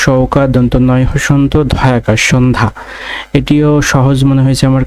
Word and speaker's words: সন্ধ্যা: প্রমিত উচ্চারণের ব্যতীত, ব্যতীতের উচ্চারণ হবে বয়িকা তয় হস্যি তওকার, ব্যতীত। সন্ধ্যা, দন্ত তাহলে সৌকা দন্ত নয় হসন্ত ধয়াকার, সন্ধ্যা, এটিও সহজ মনে হয়েছে আমার কাছে।